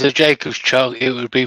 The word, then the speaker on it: Jacobs: Seth's put, if it's a Jacob's Chuck, it would be pronounced Jacobs.